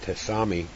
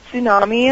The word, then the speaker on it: tsunami: basically a tribute to the Japanese, was it Tesami? Is that how you say that? Tesami or Sami or how you say it? Oh, the tsunami and Tsunami, the yeah, earthquake?